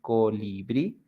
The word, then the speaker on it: colibrí: Like in the examples we have here, colibrí, the strong sound, it's at the end, brí, colibrí, jabón, jabón, borrador, borrador y café, café.